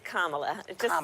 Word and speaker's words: Kamala: introduced Kamala Harris oops accent on the wrong syllable its Kamala yeah just think of like a comma and add a lock somebody forgot to tell